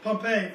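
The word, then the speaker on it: Pompeii: of uh P pampe I think how you pronounce it pompe Pompei thank you thought p o m p e i i pompe it's comprised of an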